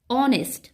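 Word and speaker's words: honest: রেস্পেক্টস dash অনেস্ট ফেলো অনেস্ট এখানে এইচ এর উচ্চারণটা হ বা হার মতো না হয়ে কি হচ্ছে অনেস্ট অর মতো হচ্ছে ভায়োলের মত উচ্চারণ হচ্ছে তাই এখানে বসবে এন্ড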